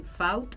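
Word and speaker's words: Fauth: Bueno, en Facebook se escribe, como el dibujito, Faut, F-A-U-T-H, y en Instagram es.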